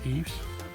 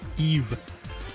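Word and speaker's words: Yves: Very nice shot, Eves. Eve. I should pronounce it Eve, not with the Eves. I constantly pronounce the silent S.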